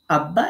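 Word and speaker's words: أَبَّا: অনুরূপভাবে আব্বা, এটা এরকম ছিল হামজা বাজবর আব, এরপরে বাতে দেখেন জবর আছে, সেটা এখানে আলাদা করে লিখে দিয়েছি, বা জবর বা, আব্বা। তো তাসদিদ আপনারা জানেন আলহামদুলিল্লাহ।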